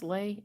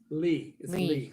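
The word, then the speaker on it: Leigh: ready yet there's lay is that pronounced lay l-e-i-g-h lee me it's not left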